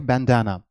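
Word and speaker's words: bandana: और इसकी दोनों है, आप डबल एन से भी लिख सकते हैं और एन से, दोनों की प्रोनाउंसिएशन होती है बैंडाना।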